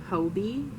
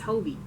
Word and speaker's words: Hobie: Hobby. Hobby. My dad always tells me how to say it, and I don't know. Hobby. You said it's not a hobby. It's Hobie.